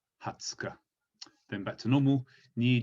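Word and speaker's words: 二十日: Ju Go Nichi, Ju Roku Nichi, Ju Nana Nichi, Ju Hachi Nichi, Ju Kunichi, and then the 20th is Hatsuka, Hatsuka.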